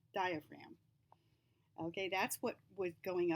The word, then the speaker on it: diaphragm: that was the diaphragm now watch how funny that word is spelled i frag them because it's a silent G we don't say frag them diaphragm okay that's what was